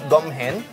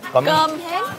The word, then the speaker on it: cơm hến: Our first food of the day, it's called gum hen. Cơm hến.